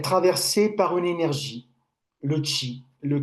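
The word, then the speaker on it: qi: les méridiens et le chi. Chi, on le dit ça, on prononce ça en chinois, ki en japonais.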